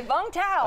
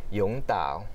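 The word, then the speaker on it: Vũng Tàu: Because we Americans would say Vung Tau. Of course, right? Of course. Like we say pho instead of pho. Exactly. Right? The Vietnamese pronunciation of it is Vung Tau.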